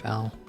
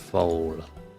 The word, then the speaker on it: foal: I think it's pronounced fowl. It's like a baby horse, isn't it? A young horse or related animal. Oh, it's pronounced foal.